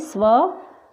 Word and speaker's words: स्वतः: तो अह की मात्रा दो बिंदुओं में होती है, जो वर्ण के पीछे लगती है, और इसे विसर्ग भी कहा जाता है। जैसे अ, त और पीछे लगा तो इसका उच्चारण क्या होता है? ह, अतः। ऐसे ही स्व, त और पीछे विसर्ग लगा है तो इसका उच्चारण हुआ स्वतः।